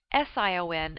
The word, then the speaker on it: sion: The suffixes sion and tion, both pronounced shun, form nouns.